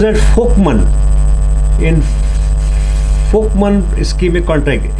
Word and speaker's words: Volkmann: pronounced as fman in folkman es schic contract f is like friend and L is silent man is like Monday so it's a folkman es schic contracture it's